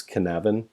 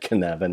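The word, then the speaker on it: Cynefin: I've noticed they use kanavan and/or it's spelled syn ofin but its head can Evan it's a Scottish word and they've stone from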